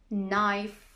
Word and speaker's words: knife: you know this one a k is not pronounced when it comes before an n like knife no knee let's look